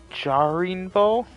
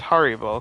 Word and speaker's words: Haribo: Jarinbo? Or Harinbo? Yeah, but no, it's Haribo, because that's how the commercials pronounce it.